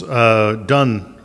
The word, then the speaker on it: Donne: John Donne's Donne. It looks like Dawn to me, but it's Donne.